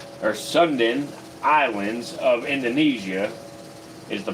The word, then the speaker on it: Sunda: The lesser Sudan or Sundan islands of Indonesia is the proper way to say it, but it's including the Komodo Islands, Flores, and the nearby islands.